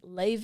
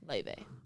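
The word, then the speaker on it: Laufey: of the week I always thought it was pronounced ly until about two weeks ago yeah I was going to talk about that the way that the name is pronounced is weird is so weird Le but it's spelled a l a u f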